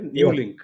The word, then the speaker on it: Nuelink: used them all and New Link am I pronouncing it right New Link yes okay new link got me